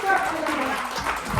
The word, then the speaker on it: Ciara: My name is Ciara.